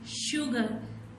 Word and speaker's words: sugar: First is soap, sugar, sand. This word soap and this word sand starts with the S sound, but sugar starts with SH sound.